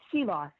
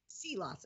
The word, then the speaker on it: Seelaus: applified marketing Our Guest today is seos did I pronounce that right seos seos okay good and please and please call me